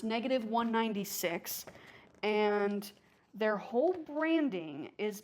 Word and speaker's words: -196: It's pronounced -196.